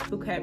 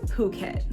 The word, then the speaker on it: Phuket: So we are staying at the Renaissance Phuket Resort and Spa.